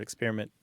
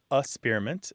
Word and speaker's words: experiment: So one of the ways the pronunciations of experiment differ is that first syllable. So some people it's experiment, and some people it's asperiment, and some people it's experiment.